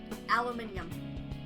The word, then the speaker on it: aluminium: Aluminum all Aluminium. That's how they say it in the UK.